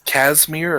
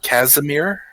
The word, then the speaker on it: Casimir: so yeah it's uh not cashmere or cashmere but casimir uh but i'm i'm